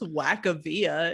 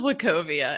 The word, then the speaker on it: Wachovia: and i was like what's wakavia and she's like uh it says wachovia and it's a bank